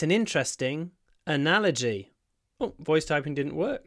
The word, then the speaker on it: analogy: analia it's an interesting analogy oh voice typing didn't work try again it's an interesting analogy so the stress is on the N analogy an analogy analogy there's